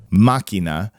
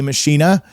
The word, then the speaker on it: Machina: Machina, is that's how you say that word.